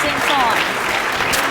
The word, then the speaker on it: Saint-Saëns: It's supposed to be pronounced Saint-Saëns.